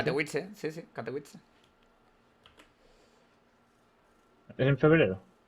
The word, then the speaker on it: Katowice: ¿O cómo se pronuncia? Katowice, sí, Katowice.